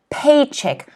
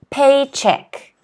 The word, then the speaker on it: paycheck: next word is paycheck paycheck notice that the stress is in the first syllable paycheck paycheck can everyone say